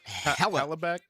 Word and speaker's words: Hellebuyck: How you pronounce his name? Connor. Yeah, Hellebuyck. Yeah. Connor Hellebuyck.